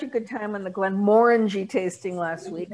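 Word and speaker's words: Glenmorangie: good time on the glen moring tasting last week i'm finally pronouncing it correctly not merengie right and of course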